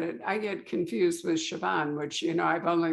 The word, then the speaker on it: Siobhan: no i get it i get confused with siobhan which you know i've only learned to pronounce for me and reagan otherwise i'd still